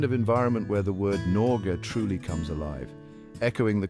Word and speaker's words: Norge: no and the air the e at the end is pronounced similarly to the e in bed imagine yourself standing amidst